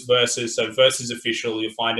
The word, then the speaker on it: Versvs: to pronounce it as verses that's just me i had my own moment but it's spelled like that it goes versus so versus official you'll